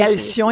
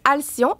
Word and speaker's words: Alcyon: Puis c'est à ça ça aussi que les gens et Alion il faut que vous expliquiez pourquoi le nom.